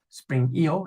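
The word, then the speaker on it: Spring I/O: me um live from Spring IO spring EO if you're pronouncing it as a Western European mic um so this is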